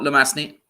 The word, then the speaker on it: Lemasny: Did I ruin your surname? Did I pronounce it wrong? No, Lemasny. Yeah, it's close Lemasny. enough. Yeah. Yeah. You weren't too far off.